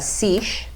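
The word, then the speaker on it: seiche: familiar with this phenomenon it is called um a sish okay um kind of rhymes with quiche it does the breakfast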